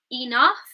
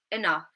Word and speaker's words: enough: So instead of saying enough, we might say enough, enough.